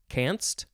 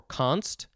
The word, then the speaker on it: canst: canoris next is uh you could probably pronounce it a couple ways let's see canst or const c-a-n-s-t this is archaic um